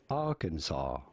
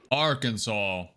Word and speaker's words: Arkansas: Unlike for the state of Kansas, the S here is definitely silent. How do you go about pronouncing it? Arkansas. Arkansas. Arkansas.